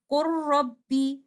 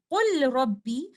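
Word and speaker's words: قُل رَّبِّ: We will do idgham kamil here and recite it like this. Qur rabbi. We will not say qul rabbi. We will say qur rabbi.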